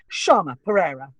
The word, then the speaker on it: Shayma Perea: Shayma Perea. Shayma Perea, because I'm not messing that up. No, it's spelled very strangely.